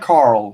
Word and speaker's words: Carel: Think of it like Carl, yeah.